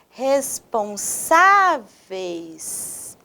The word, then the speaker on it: responsáveis: Veja essa palavra, responsáveis. Novamente, responsáveis. O sa, a sa é a sílaba mais forte dessa palavra, não é mesmo?